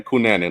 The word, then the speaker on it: Knutzen: But I think we pronounce his name Knutzen, like like the killer, Andrew Knutzen. Okay. It's spelled exactly the same.